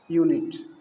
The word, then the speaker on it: unit: जैसे मान लीजिए लिखना पड़े एक यूनिट, एक यूनिट, तो यूनिट की मीनिंग होती है UNIT।